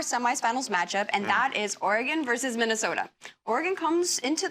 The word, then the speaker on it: Oregon: Okay, well, we have one more semifinals matchup, and that is Oregon versus Minnesota.